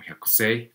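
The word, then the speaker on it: 百姓: Digamos que esto que ustedes ven como Hyakusho, pues también puede ser como Hyakusei, pero bueno. Ese carácter del Hyakusho o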